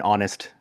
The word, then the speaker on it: honest: Um it's just that the general rule, the general rule was that you use an for an h word if the h is silent. So an hour an honest mistake.